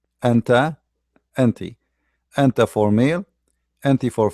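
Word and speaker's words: أنتِ: The one for the female has a kasra, anti. So anta, anti. All right? Anta, anti.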